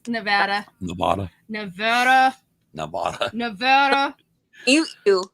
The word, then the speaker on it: Nevada: nothing to me yet yeah thank you it's nevada nevada nevada nevada you you you say tomorrow